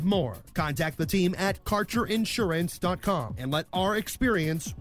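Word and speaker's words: Karcher: details your connection to quab cannabis Insurance Services is spelled k a r c h e r that's carer insurance we have worked with Ventures like cannabis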